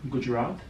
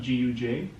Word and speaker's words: Gujarat: It's a state called Gujarat. How do you spell that? Gujarat, Yeah.